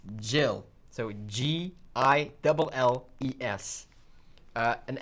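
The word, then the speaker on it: Gilles: exact name name it's jill so g-i-l-e-s uh and actually it's pronounced jill like the french part the french do it pronounce it um yeah like jill my name is jill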